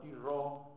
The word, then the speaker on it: Turreau: Un general llamado Tirró, Turreau se escribe Turro.